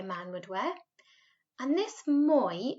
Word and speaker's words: moi: would wear and this moy it's almost a bit like there's a w before it listen carefully and then